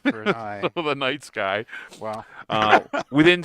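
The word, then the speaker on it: Nightsky: to go to the Night Sky, or as Henny and Joe like to call it, and I'm never going to let this down, the Night Ski. the Night Ski. The incorrect pronunciation.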